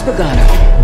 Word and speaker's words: Bogano: I'm sure we'll figure out how to pronounce this. This is Bogano.